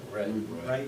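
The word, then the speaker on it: Wray: Stephen is a relatively small company out of I don't even know how you say it, W-R-A-Y, Georgia. Is that right? Ray, Georgia.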